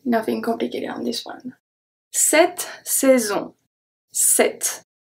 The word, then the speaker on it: cette: The C is going to be pronounced as a S because it's followed by a E. Cette. But the E, because it's before two consonants, I'm so sorry for that. Because it's before two consonants, is going to be pronounced as a E.